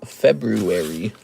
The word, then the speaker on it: February: February has an R after the B. February. I don't know if I agree with that. I think we should respell it. February. That's how everyone says it. No one says February.